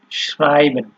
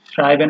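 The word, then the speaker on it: schreiben: এরপরে এখানে হচ্ছে আপনার এস, সি, এইচ, এই তিনটা যখন একসাথে ব্যবহার হয় তখন এটার উচ্চারণ হয় হচ্ছে আপনার তালিবর্ষ বা স, এরকম। ঠিক আছে, যেমন এখানে দেখেন আপনার শ্রাইবেন। শ্রাইবেন মানে হচ্ছে আপনার ইংলিশে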